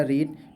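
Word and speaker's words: read: Verb हमारा रीड, तो रीड का third form रेड, spelling same रहेगी।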